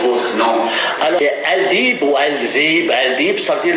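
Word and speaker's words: Aldeeb: Comment se prononce votre nom? Alors, Al-Dib ou Al-Dib, ça veut dire les loups.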